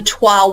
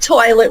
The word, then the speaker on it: toile: It's not toilet wallpaper, No. It's toile wallpaper.